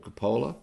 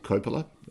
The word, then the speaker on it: Coppola: Godfather by Francis Ford Coppola um or Coppola depending on how you want to pronounce it uh what are my